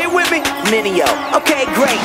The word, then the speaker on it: Mineo: Everybody make mistakes like VJs, tryna say my name, it's Mineo. Say it with me, Mineo.